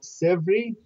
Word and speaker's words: Sèvre: The names of the rivers are Sèvre. And the other name of the river is Maine. Maine. Maine. Yeah. So S-E-R-V. No, S-E-V-R-E. S-E-V-R-E. Oh, Sèvre.